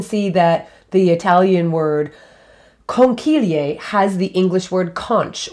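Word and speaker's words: conchiglie: pasta that is called conquilier conchilier literally means little shells i'll spell it for you c-h-i in italian is pronounced with a k sound so key so con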